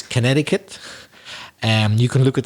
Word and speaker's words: Connecticut: place names for example connecticut which is a difficult word to pronounce because the way it's written isn't really the way if you said it the way it's written you would think it was connect the cut but but it isn't it's connecticut and you